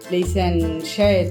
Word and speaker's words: Chez: in sentences but well it's pronounced che and then the other